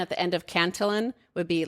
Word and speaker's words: Cantillon: got french citizenship so everybody's like no it must be kanting and you're like well then you're gonna have to start pronouncing paris pa it's like like you pronounce it the way you pronounce it that's the way it is pronounced it's canton jeff hell yeah i